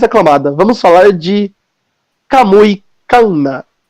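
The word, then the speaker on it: Kanna: Vamos falar de Kamui Kana. E não é Kana. Quem fala Kana tá pronunciado errado. Tem 2 N's. Inclusive, se você observar no anime, eles chamam ela de Kana. Tipo, separa Kan e Na.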